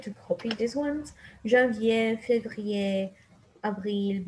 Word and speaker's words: février: Février, we also don't pronounce the R.